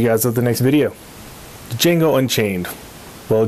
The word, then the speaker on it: Django: at the next video django unchained well django unchained because the d is silent i like that line